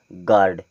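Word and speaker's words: guard: यहां पे लिखा है जी यू ए आर डी इसे हम क्या पढ़ेंगे गार्ड क्या पढ़ेंगे गार्ड इसी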